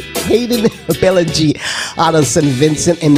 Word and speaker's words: Hayden Billingy: And today, you're going to have a special guest artist, Hayden Billingy. That's the correct pronunciation of his name. Hayden Billingy out of St.